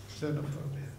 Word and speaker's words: xenophobia: I take umbrage that the English decided to pronounce a clear Greek X as a Z, but that's another xenophobia.